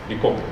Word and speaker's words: Bicocca: Bicocca, that's right. It's difficult to pronounce this.